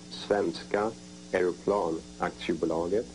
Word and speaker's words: Svenska Aeroplan Aktiebolaget: Saab, that is four letters, S-A-A-B, and it stands for, in Swedish, it's pronounced Svenska Aeroplan Aktiebolaget, and translated into English,